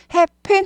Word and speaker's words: happen: happen 이라기보다 happen 이쁜이 할 때 쁜 하고 똑같다고 생각하시면 돼요.